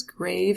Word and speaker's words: grave: Next one, looks like the word that it means, grave as in serious, but the pronunciation, of course, in Spanish sounds like this.